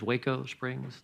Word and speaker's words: Waco Springs: Waco Springs substation edition. And I've been assured it is Waco Springs, not any other pronunciation.